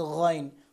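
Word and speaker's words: غ: তারপর হচ্ছে গইন, খ যেখান থেকে উচ্চারণ করেছিলাম ঠিক সেখান থেকেই গইন উচ্চারণ হবে, অর্থাৎ হলকের শেষ থেকে।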